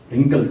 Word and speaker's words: wrinkle: Next रिंकल, WRINKLE रिंकल। इसमें W साकिन है, साइलेंट है।